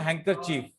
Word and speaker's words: handkerchief: हैंडकन बेटा D silent होता है इसमें, और इसको पढ़ते हैं हम हैंकरचीफ।